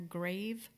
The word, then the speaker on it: Graeve: 5/24/23, they submitted a permit via Bright Light Homes Marina Grave, and that's spelled Graeve.